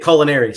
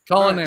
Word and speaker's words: Coloneri: I grew up pronouncing it Coloneri, so we're going to go with that. Coloneri. Just like the school, but spelled differently.